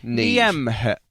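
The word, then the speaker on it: Niamh: There's one name Nev is a more commonly ne Yeah. N I A M H is pronounced ne in Ireland.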